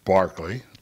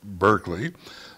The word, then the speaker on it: Berkeley: Anglo Irish philosopher and Anglican clergyman George Barkley pronounced Barkley lat we pronounce it Berkeley later Bishop of Clone in Ireland spent a